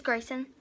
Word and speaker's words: Gracen: It's Grayson, spelled Gracen, so Grace with an N at the end, underscore art. So I was saying it right.